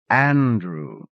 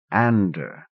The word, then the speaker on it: Andrew: that than anything else d was not quite do not quite do Andrew not Ander the man was hairy